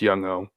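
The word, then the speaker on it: Younghoe: It's not Yun Ho. It's Yunwei. It's Young Ho.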